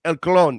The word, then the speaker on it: El Clon: So I get told every week that I say it wrong when I say El Clone. So I decided to say El Clon this week.